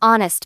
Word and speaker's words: honest: We use an before words that start with a silent H.